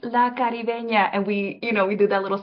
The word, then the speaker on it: La Caribeña: And it's a fun little exercise whenever I'm telling people it's pronounced La Caribeña, and we do that little song and dance